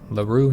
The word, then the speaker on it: Lerroux: I think that's Lerroux. Yeah, I think that's how you pronounce it. I think the X would be silent.